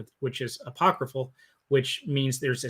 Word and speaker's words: Ai: or I sorry it's it's it looks like in AI That's how you that's how you spell it AI but I believe it's pronounced I Jericho Nineveh and Babylon